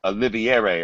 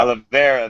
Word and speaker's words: Oliveira: is making his featherweight debut against Charles uh oliviere or however you pronounce that person Rivera yeah Oliveira there it is listen first off do you